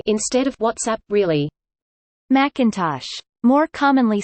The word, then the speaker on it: WhatsApp: URTSAPI instead of WhatsApp, really.